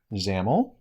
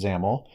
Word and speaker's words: XAML: we're going to cover in this video are zaml which is xaml pronounced zaml stands for extensible application markup language and this